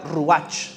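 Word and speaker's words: רוח: viene del hebreo y se pronuncia ruach verdad r u a ch H para todos los verdaderos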